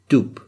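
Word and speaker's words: دب: And this makes this pronounced like doop. So we have do, do, do. But there's no oo. It's just a small oo. You just make your mouth circular, your lips circular when you say this word.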